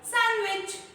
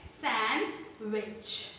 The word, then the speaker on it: sandwich: हम इसको sandwich बोलते हैं, but actually this is called sandwich. S-A-N-W-I-C-H, sandwich.